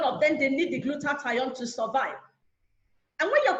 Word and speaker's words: glutathione: promise it very well you can just remember I have to glue the tie on your neck so if you see